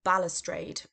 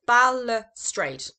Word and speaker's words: balustrade: So, the word we're looking at today is balustrade. Okay, now this is three syllables, balustrade. Okay, it's almost got one letter in the middle, balustrade.